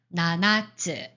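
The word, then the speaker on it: ななつ: 예를 들어서 나나츠 이거는 나나츠 이거는 장음이 아니죠. 그래서 나나츠 이렇게 읽으셔야 됩니다.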